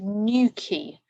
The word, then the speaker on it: Newquay: So Cornish Holiday Blog by. So here we are in Newquay. This is Newquay.